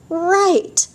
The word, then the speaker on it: right: Now, this one, right, R-I-G-H-T, that silent G-H, making the I say its name, could be that you are correct, yay, or turn right, right there.